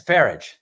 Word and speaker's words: Farage: That's Farage. I say his name right.